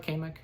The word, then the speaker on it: Kamek: Am I pronouncing that right, Kamek? Kamek. Kamek, thank you.